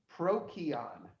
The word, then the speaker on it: Procyon: I don't know how to pronounce that. Procyon.